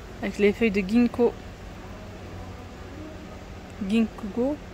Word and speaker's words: Ginkgo: Ginkgo, ouais, c'est comme ça que ça se prononce.